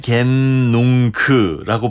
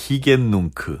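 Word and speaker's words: Hic et Nunc: 히겐농크라고 발음이 될 텐데 이게 네. 어렵습니다. 히겐농크 어려워요.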